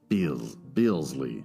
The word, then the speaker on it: Beelzy: Thus, I refute Beelzy. That's how it's pronounced.